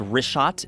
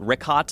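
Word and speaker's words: Richat: want to say it's rot I used to call it Riot I was mispronouncing it but let me ask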